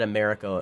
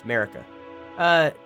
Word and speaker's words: Marika: I have not said America a single time. That's how you say her name. It's Marika.